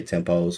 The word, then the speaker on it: tempi: is good for because a lot of people say tempos which is still the same thing you know when i found out tempe right oh that's how you say it oh oh you see